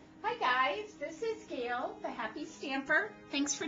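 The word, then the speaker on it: Gale: Well, my first name is Gail, and it's spelled G-A-L-E, like the storm.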